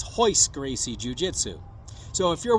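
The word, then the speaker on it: Royce: bit dad noticed also they don't pronounce the letter R like we do to them it's an h and that's why Olaf says hoist Gracie jiujitsu so if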